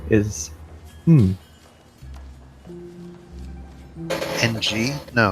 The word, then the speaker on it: Ng: way in case you're wondering the way to pronounce and G is hmm ng now it's win now the the name and